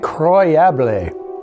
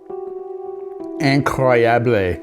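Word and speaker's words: incroyable: You shouldn't pronounce it like that. Anoabé. You shouldn't say ble at the end because there's no accentu on the e.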